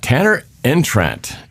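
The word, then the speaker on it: Tanner Engstrand: and decided to stay with Detroit but uh Tanner entrant that's how you say his name uh passing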